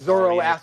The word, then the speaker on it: Zoroastrian: Zoroastrian.